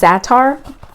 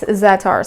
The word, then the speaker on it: za'atar: in egg salad or chicken salad, whatever, is za'atar. Za'atar is a, it's spelled Z-A''ATAR, za'atar.